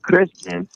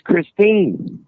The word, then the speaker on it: Christine: You didn't even say her name right. Wow. You kept saying Kristen, and her name's Christine.